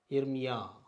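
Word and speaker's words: ירמיה: Comets ஆ, அந்த ஹே இறுதியில் வந்தால் உச்சரிக்கப்படுவதில்லை. இர்மியா, இர்மியா, இர்மியா, எரேமியா என்ற பெயர், ஜெரேமியா, ஜெர்மாயா, எரேமியா என்று சொல்லுவார்கள்.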